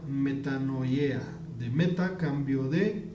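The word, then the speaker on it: μετάνοια: de este versículo dicen arrepentimiento y se pronuncia metano yea de meta a cambio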